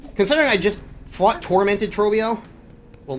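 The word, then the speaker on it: Trobbio: really pisses me off how many people I've seen call him Trobio. When he literally pronounces his name as he screams out, he's Trobio! It's like, how do you mispronounce him at that point? seriously, how do you hear that and go, it's Trabio? That's just wrong.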